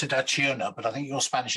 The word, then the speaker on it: Acciona: financial officer of a Spanish energy company, I pronounce it Acciona, but I think your Spanish is better than mine.